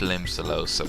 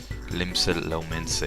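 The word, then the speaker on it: Limsa Lominsa: and see a scarlet i hate limb cellosa with a passion it's lim said lominsa even i can't even pronounce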